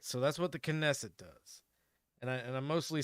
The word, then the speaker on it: Knesset: legislative body called the knesset I I checked and you do actually pronounce the k um so the knesset is essentially the the